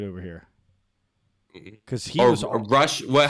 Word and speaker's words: Rush: Because he was Rush. What? How do you say? Is it Roosh? He was awesome at all. Yeah, Roosh.